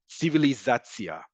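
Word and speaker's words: ציביליזציה: So civilization, the very non-Hebrew word civilizatia, right? We simply take the word civilization, we turn it into Hebrew pronunciation, but that ending ends up being tzia, right? The same thing as tion, sion.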